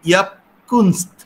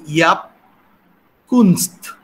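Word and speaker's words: Jaap Kunst: উচ্চারণ করব কিনা, আমি ইয়াপকুনস্ত, ইয়াপ জে এ পি এরকম উনি লিখেছেন। তো ফলে ওলন্দাজ উচ্চারণ অনুযায়ী এটা আমার কাছে মনে হচ্ছে ইয়াপকুনস্ত।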